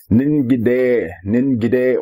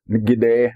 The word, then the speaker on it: Ningide: Meanwhile, one of the other words we did this week was Ningide, or Ngide, as we pronounce it around here.